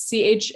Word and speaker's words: Chani: But then she says, like knee, Knee, but with a ch.